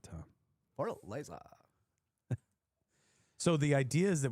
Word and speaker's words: Fortaleza: Fortaleza.